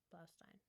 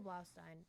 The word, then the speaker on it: Blaustein: Michael Blaustein, Blaustein, Blaustein, Blaustein, like Frankenstein, Blaustein.